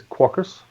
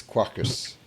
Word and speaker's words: Quarkus: guys pronouncing it so mine is caucus what's yours the Meno to me it's like Spartacus so it's Quackers but you know I'm